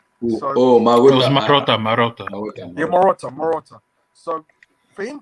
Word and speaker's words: Marotta: work solo, and he works only well with Morata, the CEO of Juventus at the time when he was at Morata. I don't know how to say his name. Morata. So Oh, It was Maruta. Marotta.